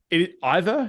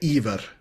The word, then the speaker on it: Iver: So if it either you say, I would say Iver in Norwegian, but Iver is also quite fine.